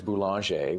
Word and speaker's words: Boulanger: I'm probably most active on LinkedIn, and it's Boulanger, which last name, I'll just spell it Boulanger.